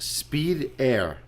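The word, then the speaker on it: Spyder: preference yeah I guess spider okay with the Y is derived from Italy there it is pronounced speed air a Speedster oh cool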